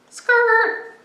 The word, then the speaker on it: skrt: Skrrrt. One more time. Skrrrt. That's spelled S-K-R-T.